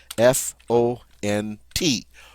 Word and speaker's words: font: And look at the form of faire that goes with these subject pronouns, F-O-N-T, font. We don't pronounce the T, and the O-N is that great nasal sound, on.